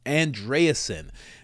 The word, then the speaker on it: Andreessen: Joe Rogan and Mark andreasen that's how you pronounce it andreasen this guy is a very in eccentric billionaire